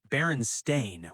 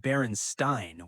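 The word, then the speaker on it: Berenstain: It is spelled Baron Stain with an A, not Baronstein with an E.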